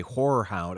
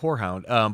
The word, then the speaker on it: Horror Hound: we went to a horror hound. I have to pronounce that. Yeah, right. Horror hound. Horror. Mm-hmm. Horror, not whorehound, but a horror hound convention.